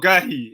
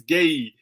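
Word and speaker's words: Guéhi: gerhy told us that it's not gurhy it's gay so i've been saying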